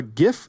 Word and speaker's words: GIF: how to pronounce GIF I'm going to pronounce it gif with a heart G until the day I